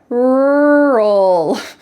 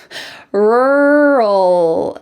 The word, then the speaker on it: rural: Rural, rural. It has many R's and many L's, rural. The final sound is in your throat, -ul, rural.